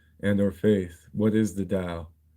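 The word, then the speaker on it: Tao: It's the Dao. It's spelled T AO. Uh the the Dao De Cheng, but it's it's not with a D. It's with a T, but it's pronounced as D.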